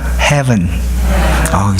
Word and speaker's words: heaven: 우리 V 발음 좀 어렵죠? 한번 해볼까요? heaven.